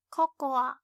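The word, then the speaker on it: ココア: Unlike English, we pronounce the last a, cocoa.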